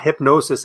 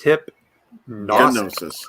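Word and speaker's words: Hipgnosis: hip and it's interesting it's not hypnosis as you would spell it it's hip gnosis gnostic yeah yeah gnos so that's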